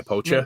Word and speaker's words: Pocher: Is that how you pronounce it? Pocher, the 1/8 scale, like poacher? basically. Yeah, poacher. Yeah.